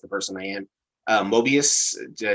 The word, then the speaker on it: Mobius: they think that uh i will say his name wrong every single time because it's just the person i am uh mobius did i say his name chris you said